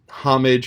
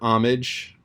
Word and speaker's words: homage: goes both ways where the h can be pronounced or can be silent so it's homage or homage um it's one of those subtle things and actually there are a number of accents where the h just disappears uh which is one